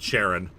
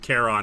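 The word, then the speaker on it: Charon: boat mind you I I've always pronounced it Sharon I mean it is spelled the t a CH but like I know but but it is technically pronounced Kon because of like letter Greek letters and stuff like that you know what's fun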